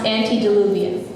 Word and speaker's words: antediluvian: flood described in the Bible like ET it's pronounced antediluvian and g-d me oh that would not be